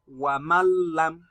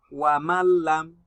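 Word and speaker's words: وَمَن لَّمْ: Now I am going to make this nun a silent letter. I will not read it. I am going to read this as wamallam Wa mallam. This is how you read it. Wa mallam without gunna.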